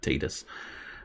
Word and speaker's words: Tidus: a lot more sense to have tied us as in the word tide the water coming in and out tied us so titus for me is the correct pronunciation however i will acknowledge at least that in the real world the world outside of my own brain it is in fact considered tedious uh riku is looking